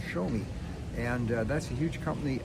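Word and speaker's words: Xiaomi: It looks like Zia, but it's actually pronounced when you say it quickly. It's called Show Me, and that's a huge company out of Hong Kong.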